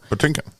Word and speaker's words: Patinkin: by Regis filin and Regis like pronounced his name wrong like panakin because that's what it looks like honestly and so I